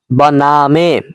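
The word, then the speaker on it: بنامِ: রয়েছে বনামে বকশেন্দায়ে মেহেরবান বনাম বনামে এরকম উচ্চারণ হবে বনাম বলা যাবে না কোন সঠিক উচ্চারণ হলো বনামে অর্থ হলো নামে বকশানদায়ে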